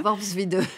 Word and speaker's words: Worpswede: J'ai mis des années à le prononcer. Voilà. Worpswede.